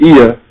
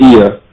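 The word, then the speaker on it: Oia: We stayed in the village of Ia, spelled O-I-A, but it's pronounced Ia.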